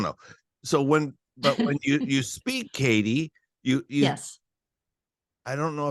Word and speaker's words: Katie: If someone asks me my name, I have to say Katie, and I have to say the T, Katie. Oh, really? Yeah, as opposed to Katie, because they don't get it.